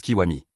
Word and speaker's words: Kiwami: Son nom s'écrit Gakudo, mais il se présente et explique qu'il se prononce Kiwami.